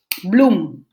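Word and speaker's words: bloem: say flower in Dutch bloom bloom bloom like bloom like flowers blooming but then we add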